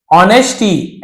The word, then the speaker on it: honesty: ना, विथ यानी से, ऑनेस्टी एस साइलेंट है, ऑनेस्ट यानी ईमानदारी से,